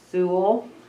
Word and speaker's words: Sewell: Sewell, Aye. She's getting there. I'll slow Quiet. that. Aye. 5-1, because I'm going school, Sewell. Rhymes with school, that's That's what I'm saying in my head.